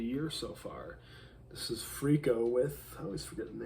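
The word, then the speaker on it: Frikko: Freako, F-R-I-K-O. That's how you spell it.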